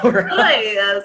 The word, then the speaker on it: Reyes: Reyes, with the roll, with the tongue roll.